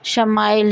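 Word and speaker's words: ישמעאל: کا تھا۔ باب پیدائش عبرانی میں اسماعیل کا تلفظ شمائیل ہے۔ شمع کے معنی ہیں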